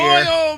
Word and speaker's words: oil: Man Mike manat here Oil Man Fire it's one syllable yall crazy Sy words it's two midwesterners don't know English